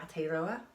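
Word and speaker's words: Aotearoa: when they first landed and they called it at a roller I'm gonna spell that because again pronunciation it bit ropey so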